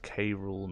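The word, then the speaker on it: K. Rool: been called by away both pronounce K rool not zero well he should have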